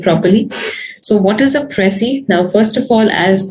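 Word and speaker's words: précis: in the slide says it is a french word and that's the reason why we pronounce it a little differently uh as against the english pronunciation uh although it's not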